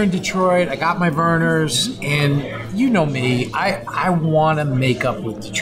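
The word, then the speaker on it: Vernors: This week, I try to make up with Detroit with Lions fans, and I screwed it up because I mispronounced the name Vernon's. Verner's is the oldest ginger ale company in the country.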